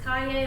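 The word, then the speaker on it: Cayer: My last name is spelled C-A-Y-E-R, but it is pronounced Kaye, like yippee-ki-yay.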